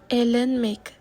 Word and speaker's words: eğlenmek: So as you can see, in Turkish, the G with the little curl on top is called the soft G or yumuşak G, and you don't pronounce it.